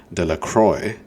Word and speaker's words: Delacroix: Bobby and Harry Jones and Dicky Deacro, the villagers pronounced his name Deacroy, eventually made a great